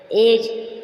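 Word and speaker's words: edge: यदि G से पूर्व D दे रखा है, G से पूर्व D दे रखा है तो D प्राय साइलेंट हो जाता है। जैसे एज, क्या हुआ यहाँ, E को G से पूर्व दिया है, एज, किनारा, हैज, D से पूर्व G दिया है।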